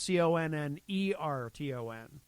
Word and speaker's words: Connarton: The more common spelling is Connerton. Really? Which is how it's pronounced.